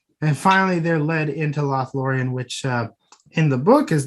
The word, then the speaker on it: Lothlórien: Where how do you pronounce the name again? Lothlórien. Yeah, Lothlórien.